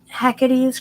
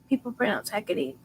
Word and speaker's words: Hecate: Is it just Hecate's Crossing, or well, I guess some people pronounce Hecate different ways. Hecate. In my head, I say Hecate a lot.